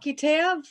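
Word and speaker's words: qeteb: yeah q-e-t-e-b yeah and it's pronounced k-e-h-t-e-b cut him all right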